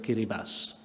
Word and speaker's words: Kiribati: Por ejemplo, hay un pequeño país que se llama Kiribati, que se escribe Kiribati, y que tiene una población de